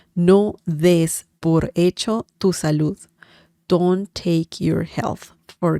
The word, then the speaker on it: salud: Remember the sound at the end when saying salud. Okay, so that's an important sound.